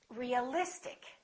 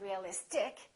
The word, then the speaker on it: realistic: immediately before the suffix realistic we don't say realistic we don't say realistic we say realistic electric electricity electric strategic